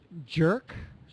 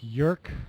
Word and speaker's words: jerk: concerned about was the jerk I wasn't sure if you were going to pronounce that right uh because of the just sound sometimes people will say like yurk like a y sound instead of J but you you